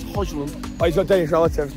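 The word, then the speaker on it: Højlund: Well, obviously, I've got Danish relatives, so it's Hoyland.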